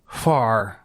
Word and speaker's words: Hvar: But the word begins with an H. Okay. Hvar. You have to pronounce the H and the V very quickly.